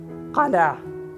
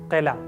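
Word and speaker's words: قلعة: See, you know this Arabic word, you are using it, Qala, but often Qila, Qila, Qila, all these. Actual Arabic word properly pronounced is Qala, Qala, Qala.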